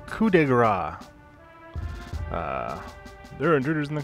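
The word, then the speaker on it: coup de grâce: oh by the way that's pronounced coup de Gras there are intruders in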